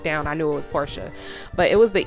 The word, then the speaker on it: Portia: I think I said Porsche, and y'all, I don't know what I was thinking. I knew it was Portia. Deep down I knew it was Portia, but it was the E throwing me off, y'all.